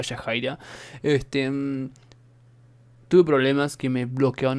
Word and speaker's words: Yahaira: bienes a los que me comentaron en el vídeo anterior que es ella el que se pronunciaba yajaira tus problemas que me